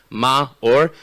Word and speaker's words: Maor: the way the way the way that you pronounce my name is ma or but you guys don't